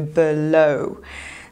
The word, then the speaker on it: below: Znowu akcent pada na drugą sylabę, czyli mówimy below.